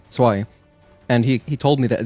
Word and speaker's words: zwei: I remember another German friend in our Discord, Halder, he explained to me how to pronounce zwei. And he told me that Z is like a TS sound, like ts.